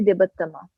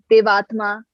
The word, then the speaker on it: Debattama: बट जब मैं लोगों से बोलती तो इट्स एक्चुअली देवोत्तमा. देवोत्तमा से देवोत्तमा. It's not देवात्मा.